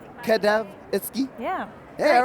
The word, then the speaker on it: Cadavre Exquis: Cadavre Exquis. Cadavre Exquis?